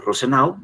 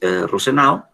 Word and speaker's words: Rosenau: Hay otro autor, James Rosenau, así como lo estoy pronunciando, James Rosenau.